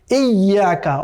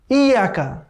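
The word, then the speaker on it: إِيَّاكَ: একটা হচ্ছে ইয়্যাকা, অনেকে আমরা পড়ি ইয়াকা, ইয়াকা না, এখানে কিন্তু ইয়ার উপরে একটা তাসদীদ বা সাদ্দা দেখা যাচ্ছে, কেমন? যার কারণে এখানে ইয়াকে দুবার উচ্চারণ করতে হবে, এই ইয়া, এই ইয়া, ইয়া দুবার, কেমন?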